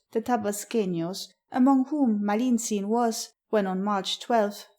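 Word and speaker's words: Malintzin: the name of Marina which the Aztec pronounced malinin when the Conqueror received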